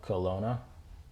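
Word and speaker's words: Qlona: Last song is called Colona. That's how you say it.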